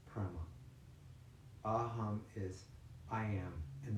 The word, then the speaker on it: prema: The second word is prema, but so it's prema, P-R-E-M-A, P-R-E-M-A, prema.